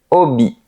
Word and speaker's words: hobbies: Tu as des hobbies? Remarque qu'on ne prononce pas la lettre H, elle est silencieuse. On dit des hobbies.